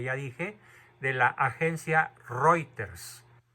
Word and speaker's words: Reuters: dije de la agencia reuters se escribe reuters se pronuncia reuter el periodista Alessandro Bianchi